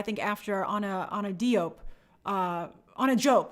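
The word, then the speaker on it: Anna Diop: But, they're drawing her that way, I think, after on a Diop, on a Jope, that's how you pronounce it.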